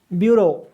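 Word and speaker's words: bureau: International ब्यूरो ब्यूरो of weights and measures, इसका pronunciation है ब्यूरो।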